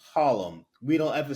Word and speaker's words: Harlem: and and we say Harlem we don't ever say the r the r in Harlem is like the T in Atlanta you just don't pronounce it my grandfather arrived from